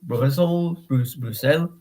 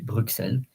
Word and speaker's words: Bruxelles: So Bruxellas, Brussels, Bruxelles. And to let you know, sometimes you can say Bruxelles or Bruxelles. The X is either S or X.